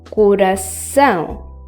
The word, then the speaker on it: coração: The C was supposed to be pronounced as K, but because it has a tail, it is pronounced as S.